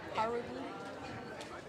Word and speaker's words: Haruki: Last name's Haruki. Stress on the first one. Haruki.